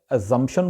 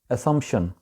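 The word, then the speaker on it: assumption: ایزمپشن بولا جاتا ہے۔ اگلا لفظ ہے اسمپشن، اس کو وہاں پہ ایزمپشن بولا جاتا ہے، لیکن اس کا صحیح تلفظ ہے اسمپشن، اسمپشن۔ اچھا جی، اگلا جو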